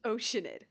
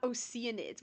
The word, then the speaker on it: Oceanid: the chance to retrieve you it's oceanid it's pronounced oceanid not oceanids what no it's oceanid were it not for